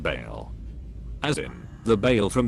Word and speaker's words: Baal: or a god named balls is literally the guy that wants children like come on dude like that's crazy it is not pronounced ball it is pronounced Baal as in the Bale